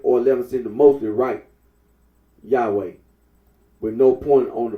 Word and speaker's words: Yahweh: The scholarly consensus is that the original pronunciation of the tetragrammaton was Yahweh.